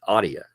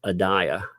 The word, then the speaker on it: Adia: You know, her name is Audia, all right? But it's because people in the South can't pronounce Adia, you know, the so I always think it's funny. I'm like, well, it's actually a mispronunciation of Adia.